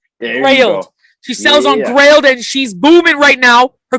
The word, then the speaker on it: Grailed: I will have the links to her Instagram and her I think it's pronounced grilled or grilled. Oh, is it? Oh, Grail or something? Grailed. Grailed.